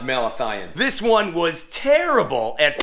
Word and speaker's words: malathion: at home depot was marathon concentrate i hope i'm pronouncing that right dude it's actually pronounced malathion this one was terrible